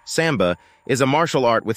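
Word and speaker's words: самбо: Russian pronounced Samba is a martial art with Soviet Origins an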